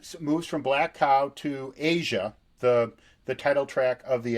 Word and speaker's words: Aja: So the album then moves from Black Cow to Asia, the title track of the album, and this really is. It's kind of interesting that Asia is spelled AJA, but this song is